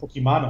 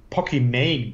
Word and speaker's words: Pokimane: Ich habe PogChamps 3 eine Partie analysiert und diese Pokémane ist so eine Streamerin, die wird auch nicht Pokémane ausgesprochen, sondern Pokimane, glaube ich.